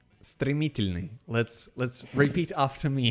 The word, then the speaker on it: стремительный: No, I cannot pronounce your nickname. Strimitolini. Why is there an I before the Y? What? Strimitolini. Стремительный.